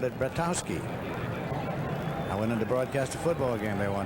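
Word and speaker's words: Bratkowski: Bratowski played his college football at Georgia where they called it Battowski. I went in to broadcast a football game there one time and asked about the pronunciation. They said silent K Bowski.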